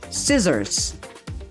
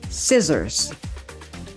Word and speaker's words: scissors: Meanwhile, C is silent in the following words, aside from ascend, like scissors, scissors. Science, science. Muscle, muscle.